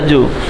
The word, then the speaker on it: zoo: তাহলে দেখুন, এই এইখানে এইটা হচ্ছে জ্যাট ও ও এর জু, এই যে একটা জে ই ডব্লিউ এটা উচ্চারণটা জু।